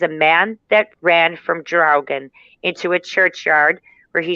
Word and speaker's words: Draugr: The Draugen, or it can also be pronounced Draugr, and it's also a Norse mythical creature.